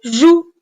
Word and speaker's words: joues: encore une fois attention les deux lettres cette fois-ci E et S avec lesquels le verbe jouer se termine sans muette muette c'est à dire on les voit mais on ne les prononce pas eux et s tu